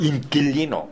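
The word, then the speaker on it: inquilino: 무조건 Q-U-E, Q-U-I에서 U자는 보조글자이기 때문에 발음하시면 안 된다는 거 잊지 마시고요. 계속. 계속. 계속. 계속. 인킬리노.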